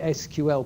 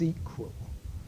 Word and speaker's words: SQL: or I call it SQL but I'm wrong it's squl it's SQL but my brain is has the wrong I call it SQL but it's SQL is how it's correctly pronounced which is the de